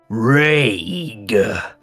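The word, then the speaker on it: Raig: It uncoils and travels a distance away from you and turns its face towards you and it says Rage.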